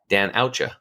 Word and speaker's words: Danusia: I was like, how do you Danusia? But I learned how to spell it. It's just Dan, Dan, and then say ouch, O-U-C-H, and then Dan Oucha.